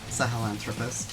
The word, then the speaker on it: Sahelanthropus: How do you pronounce the Metal Gear Solid 5 big Metal Gear's name? Sahelanthropus? Yeah, Sahelanthropus.